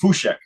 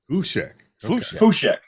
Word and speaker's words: Fucik: It's technically pronounced Fucik. Fucik. But it kind of, a lot of people don't get that. So Fucik's just kind of how it's been kind of Americanized over time.